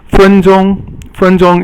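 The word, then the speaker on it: 分钟: 分钟 is all first tone, and it means a minute.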